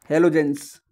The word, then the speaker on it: chalcogens: अब बात करते हैं नेक्स्ट समूह की, वो है हेलोजेंस। क्या? हलोजेंस, ठीक है, जिसकी स्पेलिंग है CHALCOGENS।